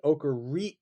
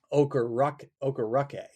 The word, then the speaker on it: Okereke: I think you just pretend like there's a U in there, an Okereke, Bobby Okereke, or maybe Okereke if you want to just put the word rock in there.